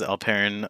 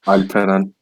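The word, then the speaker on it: Alperen: Yes, it was, but that's not the correct pronunciation, actually. Okay, then do it. Say your name. Alperan.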